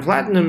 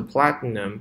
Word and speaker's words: platinum: magnets。来看最后一句，and platinum inside for propulsion。啊，我先读到这里，这是一句话。Platinum 指的是铂金啊，这个也是 ti 的话呢，不要读得很重，不要读成 platinum 啊，不好听，把它浊化一下 platinum。哎，标准来读的话呢，这个 ti 基本上是听不见的，舌尖顶到上颚，然后发一个鼻音就可以了 platinum。Alright, platinum。And platinum inside for propulsion 指的是推进力。Just add a bit of peroxide to the wastewater.And it will react with the platinum to form water and oxygen bubbles, which propel